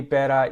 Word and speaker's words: better: Difficulty, better, yeah, both of those, the T in each of those is pronounced with the T flap.